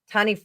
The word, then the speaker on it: Taniwha: Oh, so Juanita gave you a pronunciation for the Taniwha. Taniwha. That's the Maori one? Okay. Yeah. I'm sorry. The WH. What did you say? I said Taniwha.